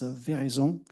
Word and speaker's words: Veraison: The original way should be French and it's a vision.